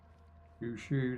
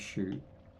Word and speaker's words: Sho: Funny because the lead guy in Guyver, the guy that actually gets the bio boosted unit, his name's Shu. Or Sho. I think his name's Sho, but it's spelled Shu.